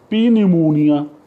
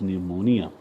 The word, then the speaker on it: pneumonia: it means peace sign it you would say pnemonia the peace I'll and it is pnuemonia so this is so important thing and I